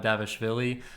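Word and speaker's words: Dvalishvili: his opponent much lesser known and much more difficult to pronounce pronounced mirab davishville kind of silently put together an impressive seven-fight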